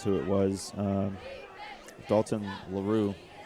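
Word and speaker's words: Laroux: Um Dalton Laroo or Laro, however they want to pronounce that. L A R O U X Laru.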